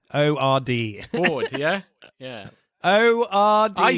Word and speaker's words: Ord: I said Hoyt, but you said it was something else. Horde. Army Hammer. Horde. I don't know why I thought it was Hoyt. Anyway, Horde. Ord. O-R-D. Horde, yeah?